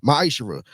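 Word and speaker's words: מעשר: Means 10th in Hebrew, and it's pronounced ma'ishra.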